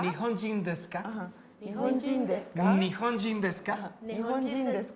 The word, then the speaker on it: desu ka: Nihonji, Nihonji, Nihonjin, Desuka. Nihonjin desu ka? La U no la decimos. Ajá. Muy suave. Nihonjin desu ka? Nihonjin desu ka? Ajá. Nihonjin desu ka?